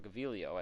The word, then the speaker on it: Gaviglio: Sam Gaviglio, or Gaviglio as his name is actually pronounced, made 2 appearances, pitched 4 innings, walked nobody, struck out 4.